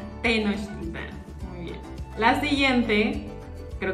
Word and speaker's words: Tenochtitlán: palabra en este mismo video que no sabías pronunciar. Vamos a ver qué tanto avanzó tu español mexicano. Español mexicano. Tenochtitlán. Tenochtitlán.